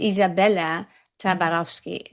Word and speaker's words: Izabella Tabarovsky: This is another episode of the Zionist Cafe, and today my beautiful guest is Isabella Tabarovsky. Did I explain it express it well?